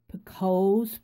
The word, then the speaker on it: picot: in needlework terms as picots, P-I-C-O-T-S. It's a French term, and it's called picot. If you're French, you may pronounce that differently.